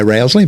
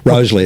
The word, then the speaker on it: Rosalie: They call it it's spelt sort of Rousley. Yeah. If we were English, you'd probably say Rousley, but Rosalie it's between pronounced.